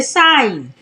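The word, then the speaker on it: sign: तो क्या पढ़ेंगे अलाइन साइन यहां पर भी जी जो है वो एन से पहले आया है तो जी हो जाएगा साइलेंट तो पढ़ेंगे साइन फॉरन यहां पर भी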